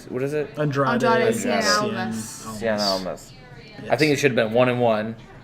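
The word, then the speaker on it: Andrade Cien Almas: Andrade Cien Cien Almas.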